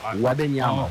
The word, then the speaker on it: Wembanyama: Wembanyama, I think is how you say it.